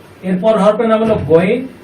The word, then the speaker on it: غين: এরপর হরফের নাম হলো গইন। এটা হবে মোটা এবং শ্বাস বন্ধ থাকবে। এটা হলো মাকরাজ 3 অনুযায়ী আমাদেরকে উচ্চারণ করতে হবে।